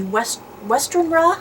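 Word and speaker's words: Westenra: follows Lucy Weston, who in Dracula is Lucy Westernra, I believe is how her last name is pronounced.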